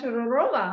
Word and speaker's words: Todorova: i should actually say your full name christina turarova right so yes welcome welcome welcome thank you